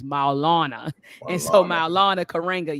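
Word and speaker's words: Maulana: sorry I always butchered I always say Milana he says no is Malana and so my Alana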